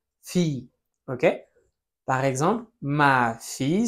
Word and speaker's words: fille: Mi c'est ensuite le féminin, la fille. Alors ici on prononce. Ya v que suena la L. No sé si te acuerdas de esta reglita. La I en francés suena como una i nada más. fille.